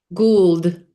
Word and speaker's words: Gould: before this began, but is your last name pronounced Good? Gould. Good? Okay.